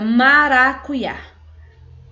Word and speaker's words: maracuyá: é a mesma coisa a palavra maracujá então como vem aqui já no finalzinho automaticamente vou pronunciar como ir também então fica maracuyá tá bom significa maracujá nós